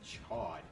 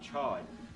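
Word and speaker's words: Chaud: because it's aen yeah it's a French word so it should be Chow but even the dub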